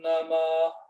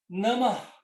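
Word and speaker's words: नमः: Namah. Namah. No final, a gente pronuncia esse eco.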